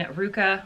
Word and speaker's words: RVCA: It was a collaboration between Ruka, which is RVCA, that's how you pronounce it, and Alex Nost.